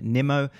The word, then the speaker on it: Nimmo: His name is pronounced Aaron Nimmo.